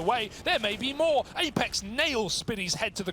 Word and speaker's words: apEX: No, it's pronounced Apex.